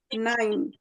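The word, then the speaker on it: Nein: নাইন, বলেন তো এটা কি? নাই নাইন, হ্যাঁ, না নাইন। এটা এই যে আই, হ্যাঁ, ই আর হ্যাঁ আই, যেটা ইংরেজিতে, এটাকে আমরা জি জার্মানে আই বলবো। তাহলে নাইন বলেন তো আরেকবার।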